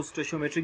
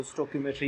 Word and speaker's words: stoichiometry: कुछ लोग इसको स्टोशियोमेट्री भी प्रोनाउंस करते हैं, लेकिन वैसे अगर इसकी ओरिजिन की तरफ जाए, हम लोग ग्रीक वर्ड से निकला है तो स्टोकियोमेट्री ही पढ़ा जाता है इसको।